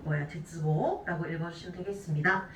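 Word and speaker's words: 絶望: 자, 위에는 지금 보시게 되면은 세츠보라고 읽고 있지만 밑에 끈을 절자가 들어가게 되면은 얘는 타금이 붙어야 돼요. 제츠보라고 읽어주시면 되겠습니다.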